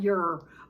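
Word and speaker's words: Yer: Anyway, when I was trying to pronounce it, she says, just call it Ur, Y-E-R, call the planet Ur. And the people are called Urs, Y-E-R-S.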